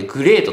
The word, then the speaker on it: GR8: トですね。GR8 と書いてグレートと読みますが、これ